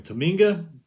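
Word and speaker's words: Tominaga: Tominga.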